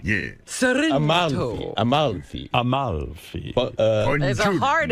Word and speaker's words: Amalfi: Is there an extra L in there? Amalfi. Yeah. Amalfi.